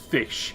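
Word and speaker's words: ghoti: I think it's G-H-O-T-I could be pronounced fish in the English language.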